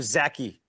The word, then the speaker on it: Zaki: So you're Adam Zaki. Am I saying it correctly? Yes, you are, Adam Zaki. Adam Zaki. Like wacky like Zaki. Like a lackey, right?